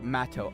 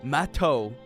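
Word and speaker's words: Matou: It's pronounced Mato.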